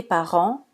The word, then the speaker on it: parents: ils jouent par contre si le mot n'est pas un verbe on doit prononcer la combinaison ent comme la combinaison en c'est-à-dire le son en le t final et silencieux on dit alors des parents le vent et un serpent vous vous souvenez du